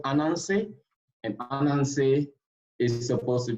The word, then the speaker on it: Ananse: We have a guy called Ananse, and Ananse is supposed to be a spider, right? He's called Ananse the spider.